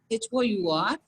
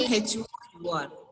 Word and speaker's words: hour: We are not going to say ha sound there.